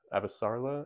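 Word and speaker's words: Avasarala: And as for characters and POVs, I really liked Avasarla, I believe is how you pronounce it.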